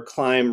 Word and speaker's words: clime: done in the clime, where clime rhymes with crime two lines later.